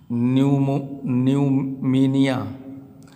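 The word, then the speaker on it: pneumonia: जैसे यहाँ लिखे हैं न्यूमीनिया। अब पी के बाद देखिए क्या है, यन दिया है तो इसमें पी का उच्चारण क्या हो गया, साइलेंट हो गया।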